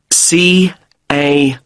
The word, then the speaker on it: Carlisle: 45 Carlisle Way. Could you spell Carlisle for me? Sorry. It's C-A-R-L-I-S-L-E. You don't pronounce the S.